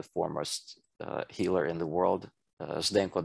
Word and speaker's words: Zdenko: It's a very hard pronunciation, but it's even worse spelling. It's Zdenko, Zdenko.